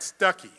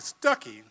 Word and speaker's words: Stuckey: Ann Stuckey, now in Arkansas, we would pronounce that Stuckey. And since we would pronounce it Stuckey, that means Ann and I are cousins because my mother's name is Stuckey.